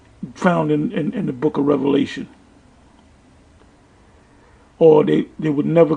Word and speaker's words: Revelation: into the book of Revelation the only thing did this clown um dr. James wait to eat him I would say is this it's pronounced revelation not revelations that's about all he